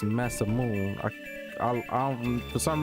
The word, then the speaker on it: Masamune: You don't have the masam moon. For some reason, I cannot pronounce that right. Even though Adrian told me it's massamoon.